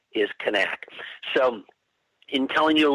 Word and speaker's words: Knaak: I find myself going back and forth between nak or connect that's just because how long I've